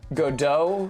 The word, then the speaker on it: Godot: Stress that the Godot, silent, okay, well, the silent T I know about, don't worry. Godot, yeah, like even stress, Godot, as opposed to Godot or Godot.